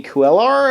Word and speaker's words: Cuellar: Wizard, Joey Cuellar, I want to say is how you say